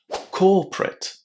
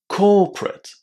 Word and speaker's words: corporate: It's in the first syllable now, which means that the last four letters of this word are actually an unstressed ending. Because of that, we will pronounce it in a very short way, as rt. Corporate. Corporate.